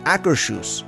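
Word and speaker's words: Akershus: email and they told me that it is acrus and it is named after a real World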